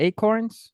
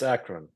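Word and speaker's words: Akron: Acron Ohio Acron yeah acorns is it acorns no it's Acron acran okay yeah well I mean it's spelled like a k r o n okay but uh they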